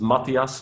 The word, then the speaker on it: Mathias: It's worth you introducing yourself, Mathias, in terms of what you do as your day job. Okay, so I'm Mathias. Pronounced in Dutch is Matthias, but hey, I'm cool with that.